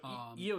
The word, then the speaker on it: Io: Which so Io, you pronounce it the same way I do.